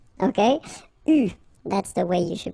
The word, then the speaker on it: eu: And this is pronounced, so it's an exception because normally you should pronounce it differently, but, so it's an exception. It is pronounced U, okay? U, that's the way you should pronounce it.